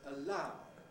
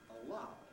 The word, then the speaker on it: allow: Likewise, allow, not allow. And follow, not follow.